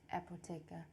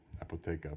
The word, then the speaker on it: Apotheke: How do you pronounce it here though? Apotheca. Apotheca, but it's spelled apotheke.